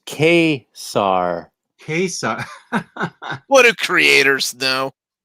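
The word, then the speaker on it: Ka-Zar: Pronounced Khazar.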